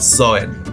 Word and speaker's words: Samhain: It was called, written like this and pronounced like this. So Halloween wasn't always Halloween. In the ancient festival, it was called Samhain.